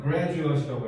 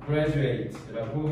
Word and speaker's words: graduate: 그러면 이게 뭐냐면 명사형으로 쓰면은 graduate이라고 해야 돼. 아니 너가 아까 얘기한 대로 졸업생이라고 하려면 graduate이라고 발음하셔야 되고요. 만약에 그냥 졸업하다라고 쓸 거면 뭐라고 해야 돼? graduate라고 하셔야 돼요. 알겠죠? 그래서 졸업생, 졸업한 이거는 졸업하다. 알겠죠? 그래서 graduate, graduate 발음 꼭 구분하셔야 돼요.